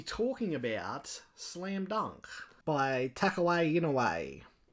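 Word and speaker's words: Takehiko Inoue: we shall be talking about slam dunk by tuck away in a way correct pronunciation slam dunk is a highly regarded Shonen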